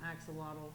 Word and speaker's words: axolotl: there is a Pokemon that looks like an axolotl yeah well I'm gonna have to look that